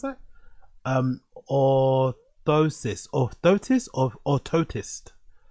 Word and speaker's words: orthosis: Ankle foot or oris or how you pronounce that? Um, orthosis.